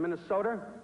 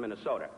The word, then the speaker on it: Minnesota: He's the former senator from Minnesota. He is the distinguished senator from Minnesota. He will be the former senator from Minnesota. Not Minnesota, it's Minnesota.